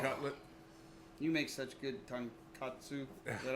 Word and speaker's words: tonkatsu: You make such good tonkatsu.